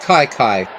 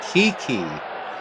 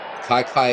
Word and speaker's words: Kiki: So for for a lot of years I you know I pronounced Kiki like a lot of people did but it uh Kai Kai is how you say his first name or his nickname I guess.